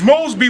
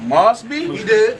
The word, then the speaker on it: Moseby: mean you swing but you got my name wrong it's Mosby but you said what must be well when you look